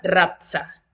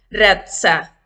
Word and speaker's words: razza: La letra Z se pronuncia como si dijeras en conjunto las letras TS o DZ. Ejemplo, la palabra razza. Hay un sonido más fuerte, razza. Se puede pronunciar razza o también razza.